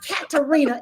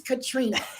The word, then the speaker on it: Katrina: the world to know it's not katarina it's katrina so katrina start there because as a little girl you had to tell everybody i'm not katarina i'm not a cat so talk to us